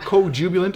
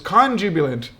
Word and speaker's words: conjubilant: It's not co-jubilant, it's conjubilant. Conjubilant.